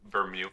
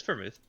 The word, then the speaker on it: vermouth: I can't even say it right. Ver vermute. I don't It's vermouth. Yeah. Okay. I had it right the first time.